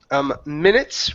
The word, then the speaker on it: minutes: Next up is minutes right here. Instead of minutes, okay, use a short I.